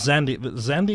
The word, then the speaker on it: Xandy: Rose was a tall brunette with a sharp nose and pleasant-looking disposition, whereas Zandy is spelled Xandy, by the way.